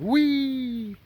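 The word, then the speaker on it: Whee!: This one's called Wee. And yes, that is how it is spelled, and how it is. That is what its name is. W-H-E-E-E-E with an exclamation point.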